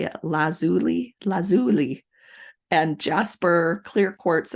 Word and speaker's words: lazuli: stones such as Carnelian turquoise amethyst agot lapis lazel La I had to look this up how to say it lazuli lazuli and Jasper clear quartz and aqua aquamarine